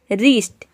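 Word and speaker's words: wrist: रिस्ट, RIST को pronounce करते हैं, डब्ल्यू को प्रोनाउंस नहीं करते हैं, रिस्ट मतलब होता है कलाई।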